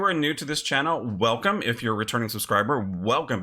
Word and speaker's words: Wacom: the word Wacom and how it's pronounced spoilers it's pronounced welcome then we're gonna do